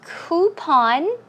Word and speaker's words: coupon: Now the word coupon can be uh pronounced two ways, I think. Coupon. I say coupon. Coupon. Yeah, I think that's what you say in Korea. Coupon or coupon. You can choose whichever way.